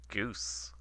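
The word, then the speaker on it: GUCE: Goose. G-G-U-C-E is apparently pronounced goose. Okay. I had no idea. It looks like it should be Gucci, but okay.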